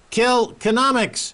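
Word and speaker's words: Kilkenomics: Economist David McWilliams David will soon be hosting kill economics Ireland's first ever economics Festival am I pronouncing that correctly David you are absolutely Max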